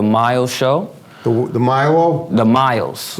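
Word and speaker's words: Myles: The Miles. Like Miles, like distance? Miles. Not distance, but think of it as how to pronounce it, but Miles, How do you spell it?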